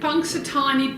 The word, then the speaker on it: Punxsutawney: Punxsutawney, Pennsylvania, and he was horrified.